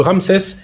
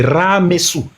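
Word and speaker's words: Ramsès: même pas dit Ramses parce que Ramses c'est une mauvaise prononciation. Son vrai nom c'est Ramesou.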